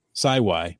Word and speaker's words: sawi: bias you actually pronounced sawi my Geo name correctly it rhymes with Wi-Fi and it comes from